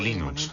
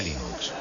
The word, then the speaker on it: Linux: otro día ya tenías 4000 usuarios el de Linux habid como jugar por correo el primer nombre